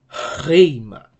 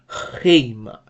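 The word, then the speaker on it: ῥῆμα: But in the word rima, because of this rough breathing mark, the rough breathing mark sounds like a vocal H, so it's gonna be rima, rima, rima. That's the right pronunciation.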